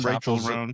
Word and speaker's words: Chappell: Chapel room. Chapel room. How do you say her name? Chapel room. Chapel. Chapel. This always says Chappelle. Like a church chapel.